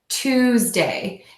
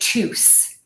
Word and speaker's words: Tuesday: So the mistake that I hear a lot here is that people will say Tues with an S, and that makes sense because that's the way the word is spelled. But we're actually going to use that Z sound. For my little cheat sheet below for you, I spelled this 2-way, twos, because we have that ooh vowel in there where you really round your lips.